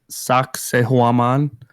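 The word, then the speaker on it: Sacsayhuamán: it is the one it's sock say huaman it sounds like sexy woman sucks a woman it's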